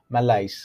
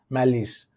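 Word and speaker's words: malice: जाएगा bitterness, spite, hate, मैलाइस, right, मैलिस, मैलिस, इसका S pronunciation होता है मैलिस, राइट।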